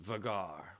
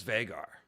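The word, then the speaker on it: Vhagar: i went with fagar however george martin says vegar and although george has said there are no correct quote-unquote pronunciations and you can say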